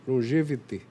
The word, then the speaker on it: Longevitê: É assim que pronuncia. Longevitê, tá?